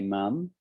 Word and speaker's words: mum: pronounce it differently so americans say mom and in the uk we say mum although in scotland they